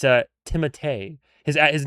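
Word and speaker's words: Timothée: It's a Timotee. His his name is actually Timote Chal Chalé like maybe well maybe not Chalé but it's Timote is how you actually say his name but everybody says Timothy so he just goes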